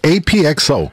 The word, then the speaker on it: APXO: But your name is only pronounced AP. Exactly. What happened to the XO? So, the true story is this, okay? Yeah. What I tell everybody when I get on stage is beautiful. It goes, my name is AP, but the XO is silent like the love I never got.